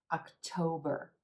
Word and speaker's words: October: in September October October another three syllable word emphasis on this second syllable and the Oh as in gold so it's not October October October make sure you give that o as in gold and the second syllable a little stretch we're going to hold it a little longer and say it with a little more energy October again we